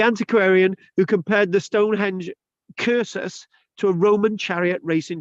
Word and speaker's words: cursus: a curses k c c is pronounced K so it's cursus rather than circus or cersus curses as